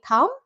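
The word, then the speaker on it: thumb: টি এইচ ইউ এমবি থাম ভুল সঠিক উচ্চারণ হবে থাম থাম লাস্টের বি সাইলেন্ট প্লামার এটাও ভুল সঠিক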